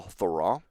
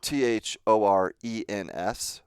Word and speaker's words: Thorens: three valleys called Val Thorens. It's Thorens, but it's pronounced Thorens.